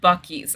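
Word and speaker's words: Buc-ee's: Oh, and they're pronounced Buckies.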